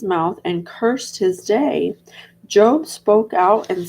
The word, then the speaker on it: Job: Even though it's spelled Job, I think it's you say it like Job.